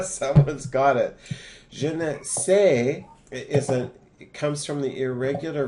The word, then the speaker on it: sais: So when savoir is linked with je, it becomes sais. S-A-I-S. That's how it's pronounced. No S on the end.